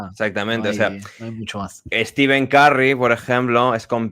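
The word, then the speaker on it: Stephen: en reels de Instagram sobre la pronunciación de Steven O stepen sí no no no la sí entiendo que ocurre esa confusión fuera de de las fronteras de Estados Unidos o de Inglaterra etcétera de de las fronteras anglosajonas pero no en a efectos prácticos aunque se escriba pH se pronuncia Como si fuese una V no s dice o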